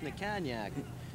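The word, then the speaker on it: Natkaniec: He tells me it's pronounced Nakanyak.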